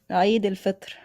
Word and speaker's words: Eid al-Fitr: So hey, give us the perfect Arabic pronunciation of Eid al-Fitr. Eid al-Fitr.